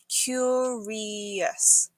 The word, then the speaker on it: curious: It's pronounced curious with a y sound after the C.